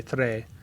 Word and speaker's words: tre: It's uno, due, tre, yeah, quattro, cinque, sei. Yes, it's tre. It's not tree.